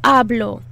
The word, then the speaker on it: hablo: the h really hard you actually don't want to say the h at all it's silent yo hablo i talk